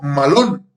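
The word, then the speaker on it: μᾶλλον: Y el adverbio que expresa esta obra del Espíritu Santo en nosotros se pronuncia como malón.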